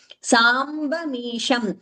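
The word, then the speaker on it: साम्बमीशं: द pronunciation of amritam sambamisham samba there ba is not mahaprana samba sa amba ambaya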